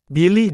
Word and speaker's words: bilih: Jiran Malaysia dan Singapura bilih dalam bahasa Minangkabau berarti iblis atau setan namun asal nama ikan ini sebetulnya adalah pelafalan Minang untuk Bilis yakni ikan-ikan kecil sebangsa